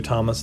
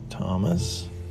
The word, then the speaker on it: Thomas: Now, Thomas, I always explain, you can do it phonetically, which would just be a T. If you wanted to do it orthographically, you could add the H in, and it would look like this. There's your S like this with an A on top. That's with the H, which you know it's silent.